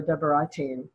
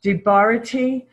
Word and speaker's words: Debarati: It's pronounced Debarati. Debarati. So my birth name is Deborah. So I tend to hear Deborah, Debarati. So it's Debarati. You need to correct me. It's okay. Actually, it's Debarati. Debarati.